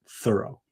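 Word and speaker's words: Thoreau: thinking about him that is Henry David thorough. But uh you know he they say that he really wanted it he pronounced it thorough.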